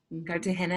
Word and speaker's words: Cartagena: Cartagena and Minca, yes.